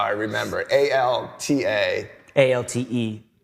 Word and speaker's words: Alte: A-L-T-E. E, but they make it look like an A. Yeah. But then you pronounce it like an A.